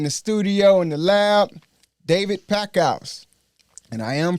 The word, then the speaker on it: David Packouz: All right, today we got a special guest in the building, in the studio, in the lab, David Packouz. And I am pronouncing his name right, all right?